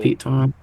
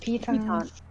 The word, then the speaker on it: piton: Piton is how you say it in England.